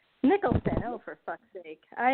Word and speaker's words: Nicholson: You know, like I think about that movie Something's Gotta Give, which is with Diane Keaton and Jack Nicholas. Am I saying it right? Nicholson.